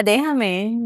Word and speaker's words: déjame: Yeah, déjame.